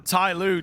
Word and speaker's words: TYLOO: Tailoo sure they do a lot of their best